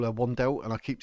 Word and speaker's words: Wandelt: I believe her name's actually pronounced Vandel, and I call her Wandelt, and I keep saying out of habit Wandelt, but I think it's like as if it's a V, like Vandelt.